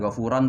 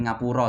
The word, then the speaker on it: ngapuro: bisa saya sampaikan ini bacanya bukan Ghufron tapi ngapuro ya ngapuro Matur sembah nuwun